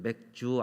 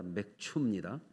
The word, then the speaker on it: 맥추: 맥추절 몇 주 감사절 발음을 잘 하셔야 되는 맥주 아닙니다 맷 춥니다 예 볼이 맵 퍼들